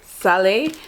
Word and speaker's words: Szalay: Uh, and this is David Salai. I um yeah, I had to look it up because I was pronouncing it wrong.